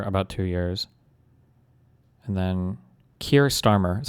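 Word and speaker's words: Keir Starmer: And then Kier Starmer is how you say his name.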